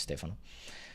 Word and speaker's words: Stefano: name is not sense actually my name is Stephano let me put it down here my name is Stefano or Stefano as you want actually the correct pronunciation is Stefano but yeah nice to